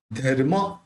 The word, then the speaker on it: धर्म: धर्म, तो ये म के ऊपर जो रेफ है वो ध के साथ बोलेंगे।